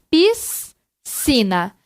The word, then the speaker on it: piscina: dígrafos então rr ss sc na palavra piscina então por exemplo aqui de ser a mesma coisa olha então perceba aqui na sala ninguém fala piscina então quando nós falamos sai um só piscina então por isso que